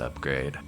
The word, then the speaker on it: Upgreid: Oh, hey, Oopgreed, pronounced upgrade.